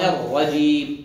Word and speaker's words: الرجيم: الشيطان الرجيم، أر أر، وليس أر، تكرر مرة واحدة فقط، أر الرجيم، مش أر، عودوها، عودوا نطقوها، أر الرجيم، الرجيم، مش جي، الرجي، جي، الرجيم، الرجيم، حرف الجيم حرف معطش.